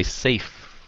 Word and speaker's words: safe: dùng bằng như vậy phát âm save với lại safe nhưng sao một cái âm V một cái âm F thôi save với lại